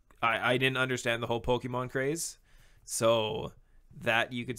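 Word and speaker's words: Pokémon: tell you hate it cuz you pronounce it pokemons how do you pronounce it Pokemon welcome okay it's like seven syllable whatever it's Japanese no oh come on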